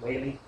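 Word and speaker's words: Whalley: Well, it's W H A L L E Y. Wall-ally Wally.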